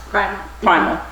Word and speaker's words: Prymel: or primo how is this supposed to be pronounced Primal so how did you get to that name